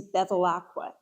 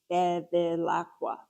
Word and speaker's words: Bevilacqua: And when she and my last name is Beacqua, Beacqua, four syllables.